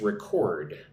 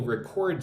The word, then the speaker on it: record: So what I was talking about is when this word is a verb, it's record, right? I will record something. But if it's a noun, it's record, right? So the emphasis gets switched. This is usually the case in English when you change a verb to a noun, right? The emphasis switches, right?